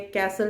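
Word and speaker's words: castle: कैसल में T silent है और विसल में वापस टी साइलेंट है।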